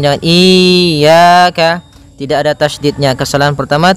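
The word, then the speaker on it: إِيَّاكَ: Pada lafal ya ini hati-hati dalam pelafalannya ada dua kesalahan yang sering terjadi. Yang pertama yaitu dia memanjangkan iya. Nah, seperti itu harusnya dia ee ditekan dan dilembutkan. Iyaka. Iyaka. Nah, kemudian jangan sampai dibaca panjang.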